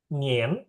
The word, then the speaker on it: 念: I A N ini dia bacanya jadi kayak Inggris ya. I E N. Nien.